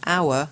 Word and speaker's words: hour: the sound as well like an hour even though it's got an H because it's got a silent h and a unique because